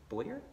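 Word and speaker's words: Bowyer: Boyer? Yeah, Boyer. Yeah. It's spelled so weird.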